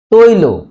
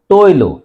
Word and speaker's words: তৈল: মত উচ্চারণ হচ্ছে না পাঁচ নাম্বার নিয়ম শব্দের শেষের অ এর আগে যদি ঐ ঔ অনুস্বার বিসর্গ এবং ঋকার থাকে তবে অ এর উচ্চারণ ঐ এর মত হয় তৈল এখানে দেখো ত এর সাথে ঐকার আছে তাহলে তয় ওকার রসই তৈ ল ওকারে ল তৈল এখানে দেখো তৈল এই